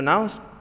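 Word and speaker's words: gnu: and Pelican clue so now students you never see a noon see sometimes some people call it new and sometimes some people call it new and G is silent so it's no so exactly no are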